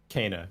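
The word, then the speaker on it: Kena: Everyone now finally knows the correct way to say it. Kana, right. Kana. Got it. Kana.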